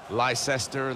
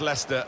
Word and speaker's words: Leicester: rest of the world try to learn how to pronounce their name lyse ester Lai Chester we got a lot of that didn't we but very much Leicester and very much the